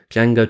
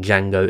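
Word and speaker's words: Django: name directed by Sergio kabuchi in Jango Unchained Jango tells nuro's character that the D in Jango is silent to which nuro's character replies I know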